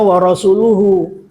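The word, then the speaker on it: وَرَسُولُهُ: Nah yang benar bacanya warasuluhu ya.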